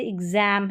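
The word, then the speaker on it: exam: आगे देखें कि एक्स जो है इसको आधा ग और ज प्रोनाउंस करते हैं। इसमें क्या है कि दो स्वरों के बीच में एक्स आता है जब दूसरे वाउल को जोर देकर बोला जाता है, तो वहाँ पर ये वाला साउंड आता है। कैसे आता है, अब नियम को देखेंगे। जैसे एग्ज़ाम है, यहाँ पर देखें इस ई एक्स, इसको आधा ग और ज पढ़ रहे हैं, इस एक्स को।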